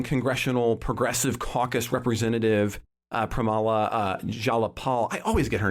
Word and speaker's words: Jayapal: And it really centered originally and earlier in the week when Congressional Progressive Caucus Representative Pramila Jayapal. I always get her name wrong. Ken, say that. Jayapal.